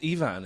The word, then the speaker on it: Ifan: do I remember because it's spelled ifan but your name is Evan and your dad went